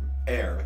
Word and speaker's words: err: Err. That's pronounced err. If you make an may error. Err. Yes. It's like to make an error.